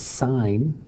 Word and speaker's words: sine: SOHCAHTOA to get the sine, cosine, and tangent. Those definitions again is sine, and you don't pronounce it sin, you pronounce it sine. It's whole word, it's whole name, sine, opposite over hypotenuse.